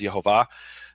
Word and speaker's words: Yehovah: don't speak the name the exact way that I speak it which is Yehovah then you are gonna